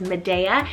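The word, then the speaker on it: Mideya: name madea cell m-i-d-e-y-a now spanish-speaking it's probably pronounced a little bit different but i would probably pronounce it as medea this one's brand new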